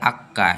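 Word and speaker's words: acca: আ বি সি ডি এ এফ জি জি আক্কা আক্কা আক্কা এইচকে ওরা উচ্চারণ করে আক্কা, এইচকে উচ্চারণ করে আক্কা।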